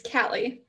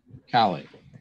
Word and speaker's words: Callie: Is it Callie? It's Callie. Callie. Okay. Yeah, people pronounce it different ways.